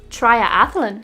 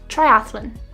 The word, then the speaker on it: triathlon: r signed kernel triathlon some people add an extra ah sound and say triathlon but that would be incorrect triathlon gage this word is